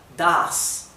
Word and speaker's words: das: Das la set ahí no solamente indica que esto se pronuncia, una s suave, sino también indica que la a ha de pronunciarse larga. Das.